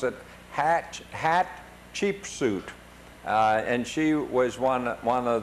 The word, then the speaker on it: Hatshepsut: And then at this point we got to the Deir el-Bara, the temple of, they told us to pronounce it Hatshepsut.